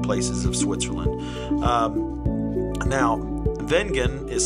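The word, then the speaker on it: Wengen: my two favorite places of Switzerland um now vengan is spelled with a W but it's actually pronounced vegan the Swiss people pronounce it that way it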